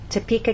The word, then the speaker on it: Topeka: you can see that we stress the middle part of the word topa and here the